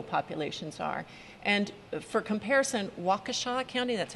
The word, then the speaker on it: Waukesha: where our Latino populations are and for comparison Waukesha County that's how it's pronounced Waukesha County directly to the west of Milwaukee county